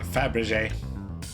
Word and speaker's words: Fabergé: Access the Flamberge What's it pronounced again? Fabergé.